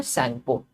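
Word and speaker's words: Tsangpo: River Brahmaputra जो है वो मानसरोवर लेक तिब्बत में है, वहां से ओरिजिनेट होती है और उसको हम बोलते हैं उनकी भाषा में सैंगपो. यहाँ पर टी साइलेंट है.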